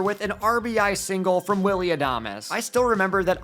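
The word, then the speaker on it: Adames: And finally, the Giants deliver with an RBI single from Willie Adam. I still remember that I got grilled for calling him Willie Adams in my first ever video.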